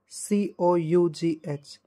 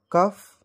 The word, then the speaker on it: cough: The first word which we commonly mispronounce is written on the screen, that is COUGH. So what do you pronounce it? Cuff? No, the correct pronunciation will be cough.